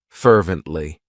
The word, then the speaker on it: fervently: of my favorites fervently it has three syllables and the stress is on that first syllable fervently what it means is